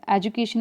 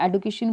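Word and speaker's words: education: एजुकेशन बोलिए या एडुकेशन बोलिए, दोनों ही प्रोनाउंसिएशन ठीक है, तो ये भी हमारे पास ठीक हो जाएगा।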